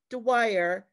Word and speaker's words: Dwyer: all the time and my name rhymes with the word choir so it's like the